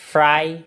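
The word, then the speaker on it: Friday: Thursday Thursday Thursday এরপর ফ্রাইড উপরের দাঁত নিচে ঠোঁটের সাথে ফ্রাই ফ্রাই ফ্রাইডে ফ্রাইডে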